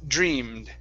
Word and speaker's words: dreamed: Okay, I take off that E. Instead of dreamed, it's dreamed. Dreamed.